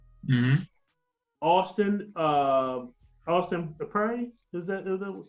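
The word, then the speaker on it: Austin Peay: Austin Prairie? Is that how you say it? Austin P.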